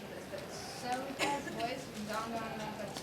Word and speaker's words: Soda: And I'm Soda, which they changed the spelling to soda, like soda pop.